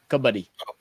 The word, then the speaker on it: Kabaddi: Kabaddi.